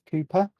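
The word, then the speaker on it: Kuiper: you an introduction an introductory letter to both cooper which by the way is spelled k-u-i-p-e-r not c-double-o p-e-car for those of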